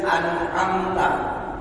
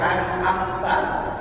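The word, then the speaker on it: أَنْعَمْتَ: Yang banyak itu ketika bertemu di ayat An'amta, masih banyak yang membacanya An'amta atau beberapa membaca Am'amta.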